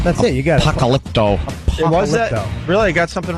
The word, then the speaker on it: Apocalypto: say that dumb name that's it you got Apocalypto Apocalypto really I got something right yeah it